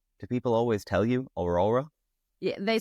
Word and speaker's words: Aurora: I'm so happy Lewis can actually pronounce my name. I'm Aurora and not Aurora.